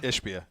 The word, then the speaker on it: Ishbia: And then the owner, how do you pronounce it? Ishbia? Ishbia, yeah.